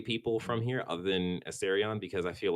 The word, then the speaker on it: Asterion: Astrion. No, Asterion. That's how you pronounce that name.